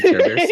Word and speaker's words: Caribert: And then Caribert, who I just said that like Care Bears. Caribert. It's like a Caribert's hair.